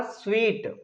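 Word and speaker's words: suite: एस यू आई टी ई इसे सूट नहीं पढ़ेंगे। थोड़ा सा डिफरेंट है। इसे पढ़ा जाएगा स्वीट।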